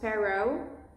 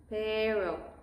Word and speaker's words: pero: English speakers have this tendency to sound pero. It's, again, the vowel English sound, O. We don't say O, we say O. Very punctual O. Pero. If you mastered the O, that sounds a little more Spanish, pero. And then it's a matter of mastering the R, pero. And you are way closer to sound like a native Spanish speaker.